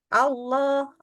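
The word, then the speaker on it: الله: Yang kita naikkan tapi enggak boleh O jadi mulutnya kita harus enggak boleh gerak ke depan gitu Allah Allah bukan Allah mulutnya itu enggak boleh maju ya berarti posisinya tetap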